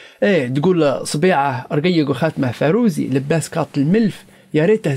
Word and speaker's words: فاروزي: تقول: أصبيعه رقيقة رقيق وخاتمه فاروزي، لباس كات الملف يا ريته زوزي. إيش تقول؟ تقول أصبيعه رقيق وخاتمه فاروزي ولباس فاروزي. وفاروزي هو نطق طرابلسي قديم للفيروز، وهو حجر كريم نجده طبعا في حلي نساء هلبة.